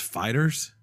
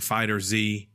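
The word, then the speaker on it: FighterZ: fact is we apparently said it wrong it's pronounced fighters which is crazy did we say that I refused to say like they're saying the confusion came because of the Z that people are saying fighter Z fighters ed more fighters ball fighters just the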